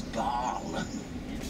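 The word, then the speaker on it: Bâle: Now, some of you might know of Basel as Baal. But don't worry, both the same place. Baal is the French pronunciation and Basel the German.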